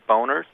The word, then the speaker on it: Boehner: And this one lady called it the Boehner's Boners. Mm-hmm. Well, I don't call him Senator Boehner. I call him Senator Boner. Yeah, well, and arguably that's how his name would be pronounced if it was anglicized, but, the obvious reference